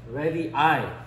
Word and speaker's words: radii: 원자 반지름을 먼저 잠깐 복습해보면, 아토믹 radii, 발음이 여기가 i더라고요.